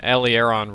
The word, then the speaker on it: aileron: That's actually an aileron roll, if I remember. That's how we pronounce it.